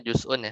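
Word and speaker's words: جزءٌ: Jadi ini benar bacanya juz'un ya.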